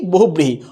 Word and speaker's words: বহুব্রীহি: তাহলে বো হুব ব্রি হি, উচ্চারণটা কি হবে, বো হুব ব্রি হি, উচ্চারণটা হয়ে যাচ্ছে কি বহুব্রীহি।